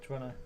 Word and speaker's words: Toronto: Pretty much slur the end of it.